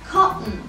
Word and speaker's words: cotton: فبدل ما بقول cotton انا بطلع بلساني علشان اقول حرف ال T اللي بقلبه همزة cotton cotton cotton cotton ball cotton.